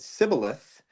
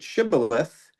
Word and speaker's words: shibboleth: And if they said Sibboleth, then they would kill them on the spot. Oh, okay. Because they would know that they weren't a member of your tribe. But Hmm. if they pronounced it Shibboleth, then they would say,